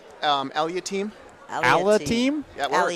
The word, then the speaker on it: Aliatim: How do you You pronounce can call your me last. name? Aliatim. Aliatim? Yeah, it works. Aliatim.